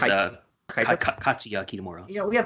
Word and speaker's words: Kaito: Yeah, It's Kaito. Kaito. Katsuya Kitamura. We have the power of the internet. I'm gonna just look this up right now. Yeah, Kaito Kitamura. Unless that's the No, Kaito Kiyomiya is the Noah guy.